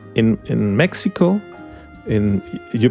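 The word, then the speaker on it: México: pronounce in Spanish ESP Mexico is is this x is like J Mexican J or Spanish J there are different pronunciation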